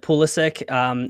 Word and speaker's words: Pulisic: Is it Pulisic, like sick at the end? So he pronounces it Pulisic.